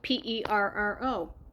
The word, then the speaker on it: perro: So for example, perro. Now before you can roll your R's, try saying it as pero. Thinking of the letter D instead of the letter R. Pero. So don't go pero, but change the R to the letter D.